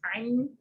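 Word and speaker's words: עין: But Ashkenazi Jews, for the most part, pronounce ayin and aleph as the same sound. You know, basically that whatever vowel gives them flavor, because aleph is silent, you know. But ayin has a little bit of that I, you know, like the constriction of the vocal cord sound.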